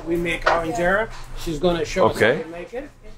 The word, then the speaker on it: injera: Today we're doing some injera. Is that how you say it? Injera? Injera.